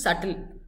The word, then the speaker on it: subtle: It's not subtle, it's subtle. Chariya, your B is silent in subtle.